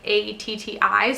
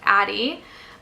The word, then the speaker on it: Addie: have is addie and addie like not add like a tti so like in the uk it'd be pronounced atti and ati is very cute in the states would probably be just addy um but i love it